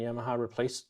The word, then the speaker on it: Yamaha: Yamaha digital piano, and Yamaha replaced the keyboard. Yeah, there's been a lot of positive comments already I've noticed in the chat about Yamaha, or Yamaha, if you want to say it properly.